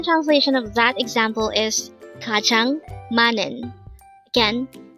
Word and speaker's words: 가장: at day hangle word number 359 Kang kajang this pronounce is a two syllable word the first